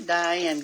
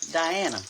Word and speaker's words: Diana: Hey, Diane. How are you, darling? Diana. That's how you say it.